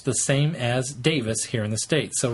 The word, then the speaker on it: Davies: the times we say Davies yeah so Russell always thought it was Davies so have I it's Davis Russell T Davis you guys Russell T